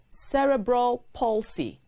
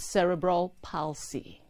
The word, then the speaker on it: cerebral palsy: expressions and their pronunciations c-e-r-e-b-r-a-l space p-a-l-s-y is pronounced cerebral palsy not cerebral palsy cerebral palsy is an early childhood disorder that